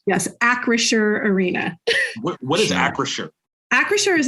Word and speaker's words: Acrisure Arena: because I want to make sure we're all pronouncing that right yes Acer Arena what is Acer Acer is an insurance company